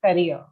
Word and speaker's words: career: to it practice this career okay think of curry something like that and uh i think